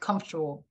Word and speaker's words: comfortable: It's like comfortable. Like not really. No, it's a schwa sound, actually, guys.